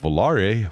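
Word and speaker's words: Volaré: in, called the Plymouth Volare, with an accent on quality, not. The accent aigu has a long A sound.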